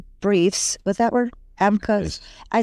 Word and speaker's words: amicus: I'm part of one of the organizations that filed the amicus briefs. What's that word? Amicus.